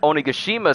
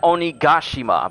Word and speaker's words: Onigashima: Except Onigashima's skull is, so much larger. And I hear people pronouncing it Onigashima, but I think it's just Onigashima. Onigashima.